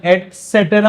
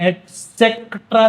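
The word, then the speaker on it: et cetera: पहले भी सिखाया है एस का प्रोनाउंसिएशन एटसेट्रा होता है इसका प्रोनाउंसिएशन एसेट्रा नहीं होता क नहीं आता बीच में इसका फुल फॉर्म है ये एसेट्रा तो इसको एटसेट्रा एट एसेट्रा बोलोगे चल जाएगा।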